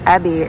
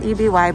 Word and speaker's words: EBY: Totally stunned that EBY slash, guess what, Ebby is how it's pronounced. I found that out later than after I posted the video. So it is Ebby, not EBY, but that bralette was amazing underneath.